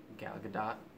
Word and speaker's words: Gal Gadot: Gal Gadot. It's with a short O and you in a hard T. So the O is short, but the T is like very prominent.